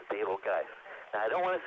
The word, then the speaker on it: Betelgeuse: this winner's circle is the supergiant star Betelgeuse or more accurately pronounced table guys I don't want to